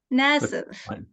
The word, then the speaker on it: Naseath: start recording that I ask you whether I'm pronouncing your last name correctly it's it's Nasi okay here we go well welcome Nasi